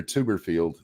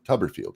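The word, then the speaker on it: Tuberville: I saw earlier today um Senator Tuberfield, Tuberfield, Tubberfield is how you say or Tubber whatever his name is.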